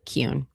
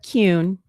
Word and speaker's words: Kuhn: Um, pronounce it Cune. Okay. Cune.